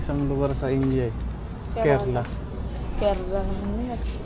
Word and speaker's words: Kerala: Kerla. Kerla. Kerala yung ano. Kerla yung pronunciation nila.